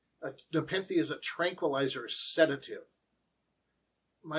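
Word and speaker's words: nepenthe: a rest bit from hard work respit and nepen and yes that is how it's pronounced a npen is a tranquilizer sedative my research also says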